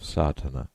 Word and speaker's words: Sadhana: A word may be added about the pronouncing of Sardana. The accent falls decisively on the first A which has the broad sound of the letter.